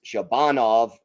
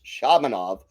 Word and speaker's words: Shabanov: I I went with the typical Russian pronunciation which is Shabbanov accent second syllable but he uh apparently told the broadcasters it's Shabanov. So Shabanov looked all right.